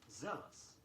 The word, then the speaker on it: zealous: Although Z-E-A-L is pronounced zeal, the adjective form is zealous, Z-E-A-L-O-U-S.